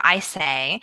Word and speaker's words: Isay: Yeah, and since we recorded that podcast, StoryCorps made a big announcement that their founder, Dave Isay, had used his $1 million TED Prize to